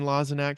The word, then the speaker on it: Lozinak: date uh today we're here with Mr Wayne laak from hate breed how are you today sir yes I'm doing good and you pronounced my name correctly I like that I